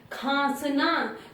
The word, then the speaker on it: खांसना: है, कैसे बोलना है, खांसना। तो ख पे आ जैसा प्रोनाउंसिएशन आ रहा है तो अनुनासिक यहाँ पे लगेगा।